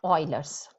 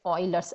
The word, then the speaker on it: Euler: today's topic is about euler's so first thing you should know how you pronounce it's not a euler but it's an euler's approximation approximation is a huge